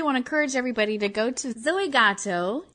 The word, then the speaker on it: Goto: Yeah, I really want to encourage everybody to go to Zoey Goto. Did I say it right? Zoey Goto. Goto, that's right.